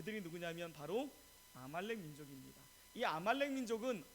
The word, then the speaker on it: 바로: 보통 우리는 뭐라 부르죠 바로 라고 부르는 것처럼 세상 사람들은 파라오 라고도 바라오 라 부르는데 성경적인 발음은 바로 입니다 이 이게 바로 라는게